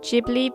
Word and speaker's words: Ghibli: Okay, I know that I think it should be pronounced Ghibli because I've recently read that it's an Italian word, but it sounds really weird to me because I've been saying Ghibli for so long, so I'm just going